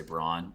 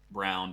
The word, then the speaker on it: Braun: exactly yeah and brown i actually think it's pronounced brown even though like everything in your brain is telling you say brawn i've i've made this